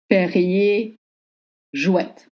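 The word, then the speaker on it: Perrier-Jouët: proper frch of the consonant common perer jouette perrier jouette andven van mouette et chandon mouette et chandon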